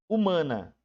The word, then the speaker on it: humana: Humana. 1, 2, 3, 4, 5, 6 letras. E quantos fonemas? 5, né, gente? Porque o H é mudo, ele não tem som, né?